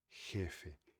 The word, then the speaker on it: jefe: Então você falar G é a pronúncia errada, GF e a pronúncia correta. Então seria jefe.